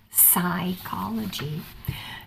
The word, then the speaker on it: psychology: to remind you that that beginning P is silent in English psychology pneumoniae is spelled PN